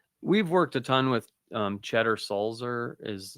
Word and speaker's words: Tschetter: Cheddar Sulzer. So TSCHETTER. SULZER. I'm impressed with your pronunciation, but more impressed with your spelling of it.